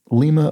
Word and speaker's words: Lima: they said lima ohio pronouncing lima like the bean thinking back to a